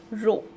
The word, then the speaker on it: rho: It is pronounced as rho. Okay, it is not p, it is this.